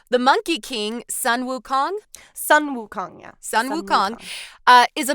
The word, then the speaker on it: Sun Wukong: And here, y'all get to hear Yinny correct my pronunciation here. The Monkey King, Sun Wukong. Sun Wukong, yeah.